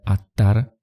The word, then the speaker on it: Adar: In Assyrian it was pronounced Adar-malik Adar, originally pronounced A-tar, is a word of Akkadian origin and means 'father of decision'.